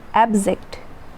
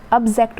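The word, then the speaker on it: abject: Next है एब्जेक्ट, अब्जेक्ट बोल सकते हैं इसको, अब्जेक्ट या एब्जेक्ट, अब्जेक्ट या एब्जेक्ट जो भी आप प्रोनाउंस करते हो।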